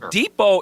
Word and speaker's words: Depot: this is the deal the depot is a French word that's how exotic the Home Depot is that T is silent where do you get